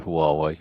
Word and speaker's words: Huawei: Well, I think you're going to be and are a tremendous asset to Huawei. I say that because I wanted to prove that I could pronounce it correctly.